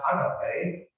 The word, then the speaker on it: agape: We've talked about this before, as the highest moral virtue, and we Christians emphasize agape, or agape, you can pronounce it either way in Greek, agape or agape.